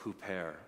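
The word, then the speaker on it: ὑπέρ: Is number one, I think I've been highlighting it throughout, remember the concept of huper. It's spelled hyper in English, but remember the concept of huper.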